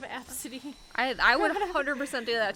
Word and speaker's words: Abcde: an airline or whatever because the gate agent mispronounced her kid's name and like laughed because she said ABCDE instead of Absidy.